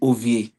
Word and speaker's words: Ova: The guy you pronounce his name Ovi is not Ovi, it's OVA.